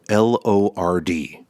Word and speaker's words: Lord: it my motan accent, it always comes out as lord. So, it manages to become two syllables no matter what I do. I can't I would have to sound British in order for it to be just the one syllable.